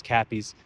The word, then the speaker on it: Cappy's: Uh, you know, call it crappies liquor. Um, I don't think it's probably that that that's horrible, but my dyslexia itself uh kept mispronouncing it when I was trying to shoot this multiple times already, but it is Cappy's uh liquor.